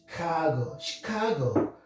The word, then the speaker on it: Chicago: Examples, we have a word like Chicago. Instead of Chicago, we say Chicago because it's a French origin. Chicago.